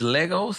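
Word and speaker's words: Lagos: It's Legos. How do Legos. Legos? Le. And it's so like you say layover.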